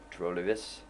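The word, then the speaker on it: trolig: probably or likely trolan don't pronounce the G trolis uh that is another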